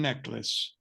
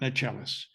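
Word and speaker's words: Necheles: the lawyer mentioned twice pronounces her name Susan necklace not not Nellis but I'll leave that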